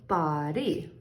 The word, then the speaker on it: body: So that's going to say bod, and that Y in a multi-syllable word, when it ends in Y, pretty much always, a few exceptions, says E. So body, and that's considered a long vowel, body.